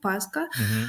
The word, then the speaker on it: паска: Паскою так е слова слово паска наголос якщо взяти назний відмінок однину має на першому складі паска Але якщо ми візьмемо